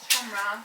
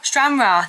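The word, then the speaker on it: Stranraer: So, it is a static caravan we've got in Scotland in a place called Stran Rea. Jordan, is that how you say it? Strra. Strra.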